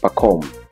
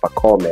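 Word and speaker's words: Pacôme: hapo eh Pacom eh Pacom eh kwa sababu wengi wanaanga Pakome ha ni jina la Kifaransa a ikiwa mwisho ni kama inamezwa eh ekip ndio maana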